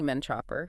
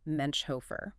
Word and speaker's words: Menchhofer: They are distant cousins, not directly related, and just so everyone knows, their last name is pronounced Menchhofer. Menchhofer.